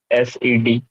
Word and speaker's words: said: SED. that is how it should be pronounced.